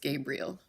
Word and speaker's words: Gabrielle: but we would have pronounced it well it's pronounced Gabriel but we but it was spelled Gabriel Ally